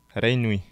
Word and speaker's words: Reinui: What was her name? Reinui. What's it? Reinui. Renmi. Yeah, okay, that's what I thought. Ray Nui. I didn't know it. I was saying it wrong. I was kind of like Ray Nui, but like I was like, I didn't want to say it wrong.